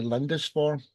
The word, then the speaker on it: Lindisfarne: Introduce yourself, Kevin, and the story behind your song, Red Tide to Lindisfarne.